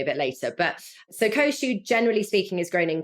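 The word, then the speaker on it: Koshu: and the great variety they make there was koshou and I'll tell you a little bit more about their Winery a bit later but so koshou generally speaking is grown in koshou Valley in the yamanashi prefecture so that's where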